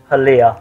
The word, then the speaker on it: Halia: How do you even pronounce that? Halia.